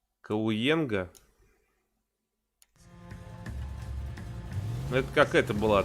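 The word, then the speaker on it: Cahuenga: Ха, не читается. А, ну да, я забыл. Ну я-то говорю, мне-то можно, я ж с акцентом. Кауенга.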